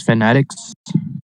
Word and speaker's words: fanatics: Fanatics. Battle fanatics. Oh, that's fanatics. Yeah. How'd I pronounce it?